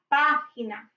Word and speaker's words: página: Page is la página, acento en la primera A.